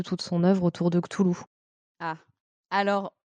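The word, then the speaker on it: Cthulhu: de ktoulou ah alors il y a un débat sur la prononciation de ktoulou mais je suis ravie que tu le prononces comme moi donc la sur je prononce comment euh et ben écoute je ne citerai pas cette personne qui écoutera probablement le podcast mais j'ai une connaissance qui une amie qui prononce kutulu ou koutouou on l'embrasse on l'embrasse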